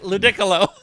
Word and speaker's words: Ludicolo: No, it's pronounced Ludicolo. ludicolo. It's like Piccolo, but with a lud in front of it.